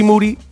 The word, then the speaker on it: Moody: I am in here with G Moody. The last name rhymes with duty.